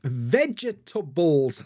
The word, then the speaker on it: vegetable: this word wrong probably I'd say vegetable vegetable vegetable which is four sounds but a lot of people say vegetable three sounds so probably I say